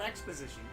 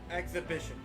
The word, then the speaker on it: exhibition: task of hand Gavin how how do you pronounce that not Exposition there's no ask hold on what that say the H is I mean technically the age is silent it depends on how you pronounce it exhibition there you go exhibition exhibition thank you Adam